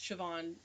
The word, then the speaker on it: Siobhan: Well, that name is pronounced Siobhan in Gaelic.